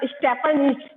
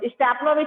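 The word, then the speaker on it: Stepanovich: नहीं नहीं, आप देखो ना, आप समझो, ऑनर्ड स्टेपनिच, स्टेपनिच कर दिया उसने, स्टेपनोविच को क्या बोल दिया? स्टेपनिच, यानी कि गलत प्रोनाउंस कर दिया।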